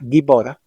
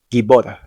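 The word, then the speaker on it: גיבור: Es importante que sepas que la letra Bet no se pronuncia como V en todos los casos que esté en medio o al final. Así, por ejemplo, en la palabra Gibor, que significa poderoso, aquí Bet está en medio y sin embargo se pronuncia como B, Gibor.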